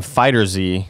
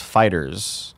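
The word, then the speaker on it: FighterZ: Dragon Ball Z game fighter Z the game creators have said it's pronounced fighters oh they should have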